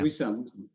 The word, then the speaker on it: Wissam: Wissam. Wissam.